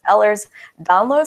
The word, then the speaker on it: Ehlers-Danlos: right so Walker help me out if I mispronounce this it's ehlers-danlos syndrome others down yes you got it all